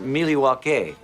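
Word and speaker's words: Milwaukee: Indian name yes Pete it is actually it's pronounced miliwaki which is Algonquin for the good land along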